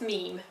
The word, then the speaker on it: meme: the tribes I thought hopefully you've learned how to pronounce meme save the top comment I've been pronouncing it men I oops yes well